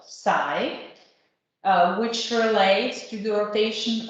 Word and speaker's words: psi: In English, it could be pronounced psi, which relates to the rotation of bond C and C alpha.